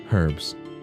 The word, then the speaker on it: herbs: Herbs. Damn, I had it right the first time. Shit. She pronounces the H.